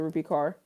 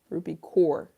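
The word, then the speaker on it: Rupi Kaur: Okay, so the thing I love about this, shout out to Rupy Carr. Ruby core. Rupy core. Don't mispronounce her name.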